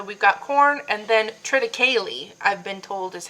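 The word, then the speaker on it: triticale: Anyway, so we've got corn and then trite, I've been told, is how it's meant to be pronounced. I've always been pronouncing it triteau, but I guess I'm wrong.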